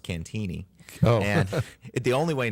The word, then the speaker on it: Cantigny: book is first over there the attack on cantigny America's first battle of World War one all